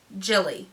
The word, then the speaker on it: Gilli: Gilli. I'm pretty sure that's how someone told me it's pronounced.